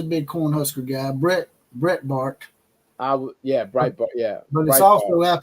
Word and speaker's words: Breitbart: don't use them because they're jackasses but uh Brett Bart is that how you say it bre Bart yeah let me uh hey while you're looking